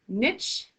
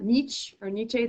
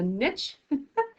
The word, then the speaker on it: niche: communities become shaped so that word is pronounced niche not nietzsche that's a niche so this is a